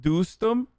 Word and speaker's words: Dostum: the taliban at times boston pronounced doostem there's no way that